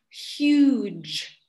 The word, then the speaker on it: huge: So the pronunciation is huge. Huge.